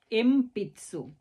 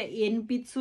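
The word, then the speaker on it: 鉛筆: গেল শিমবুন সিম্বুন মানে নিউজপেপার এরপরে আছে এমপিসু এম পিতসু এটা এন পিতসু না হয়ে এম পিতসু হচ্ছে পি আছে সেজন্য মছে এম পিতসু হাবা বা পা লাইনে লেটার বলতে হাহি হুয়ে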